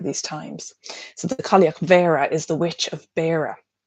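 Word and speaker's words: Bheara: Spiral 2 explores another aspect of the Cailleach, which is Cailleach Vera. BH is pronounced like a V in Irish.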